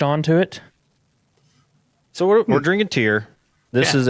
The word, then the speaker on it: Tyr: Am I pronouncing that right? Tyr?